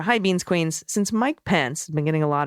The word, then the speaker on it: Pence: I had discovered that kiddo thought that then vice president's last name was Pants, Mike Pants. So I very carefully worked with him. No, Pence. By the end of the conversation, my child had carefully updated his pronunciation, diligently switched to that short E, but now is calling him Mike Pencil.